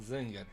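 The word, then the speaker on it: Zengar: I mean, it's got the A with things in like German. But he clearly pronounced it Zenga.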